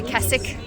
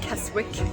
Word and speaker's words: Keswick: We have made it to Keswick. I'm learning to pronounce things correctly. It is not Keswick, as I previously thought. It's Keswick.